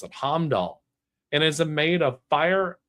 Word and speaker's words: Heimdall: That's how you pronounce it, Heimdall.